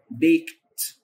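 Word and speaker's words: baked: الافعال المنتظمه بيك بيكت لاحظ حرف الدي بنطق بيكت وحرف الاي هنا بيتنطق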